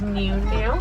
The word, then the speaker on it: gnu: Occasionally, they'll be known as new, that's spelled GNU, as it's quite similar to the sound they make.